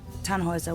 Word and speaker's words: Tannhäuser: We'd pronounce it Tannhäuser with an umlaut.